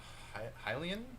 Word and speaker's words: Hylian: that's most standing out to me is uh Hylian mm-hmm I just want to make sure I'm pronouncing that no no that's right because you